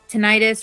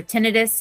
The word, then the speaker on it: tinnitus: Um any ringing in the ears, tinnitus or tennitus, however you decide to pronounce it. Um yeah, it's It depends on I've learned that it depends on what part of the world you're from. Some people say tennitus, some people say tinnitus.